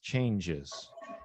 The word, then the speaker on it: changes: that's a verb but in both cases it's two syllables changes you have several